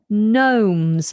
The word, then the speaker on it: gnome: But these little ornaments are quite common in people's gardens, and they are called gnomes, spelt with a silent G.